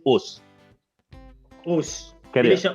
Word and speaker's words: Osu: It's actually Us, no? Not Osu. Us. Basically, Us. It is pronounced as Us.